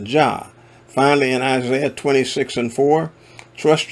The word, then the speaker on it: Jah: Now, where we see Lord Jehovah, the Tetragrammaton is preceded by two Hebrew letters which are pronounced Jah.